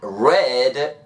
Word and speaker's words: read: pero si lo ponemos en pasado sería hay red book flash lite muy bien sigue practicando y